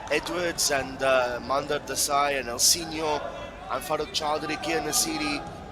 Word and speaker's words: Elsinho: It's Elsinho. The NHO is pronounced like Ronaldinho. So Elsinho.